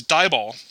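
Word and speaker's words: DIBAL-H: book rice it is di bah I've also seen it written as di b al h and so sometimes I've seen people pronounce this dye ball this is short for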